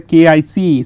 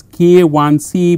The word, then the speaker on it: KIC: pronounce this as a kic so kic is wrong so you have to pronounce it as k one c because one has a specific meaning one mean this is